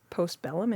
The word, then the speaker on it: Postbellum: Just Postbellum. Am I pronouncing that Yeah.